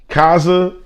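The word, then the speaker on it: Khaza: to butcher the name but it's k-h-a-z-a cause kaza i don't want to butcher the name i'm sorry that's why i spelt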